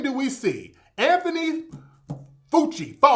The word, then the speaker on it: Fauci: do we see anthony fucci how you pronounce his name fuchi fauci anthony fauci that's his name now this is the